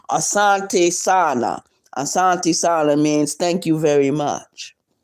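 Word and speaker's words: asante sana: And the way um Swahili words are are are spelled. That's the way you say it.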